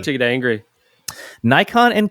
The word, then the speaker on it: Nikon: is not like English Canon like a shooting it out of Canon but something close to Canon with the no slightly nasalized and again very slight delay before the n Sound note that neither syllable in both Nikon and Canon I'm not saying it the way he's telling me to is accented both should have the same emphasis and then he tells